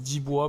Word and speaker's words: Dibo: Alors ça s'écrit Dibo, mais ça se prononce Dibois parce que c'est un nom d'origine africaine.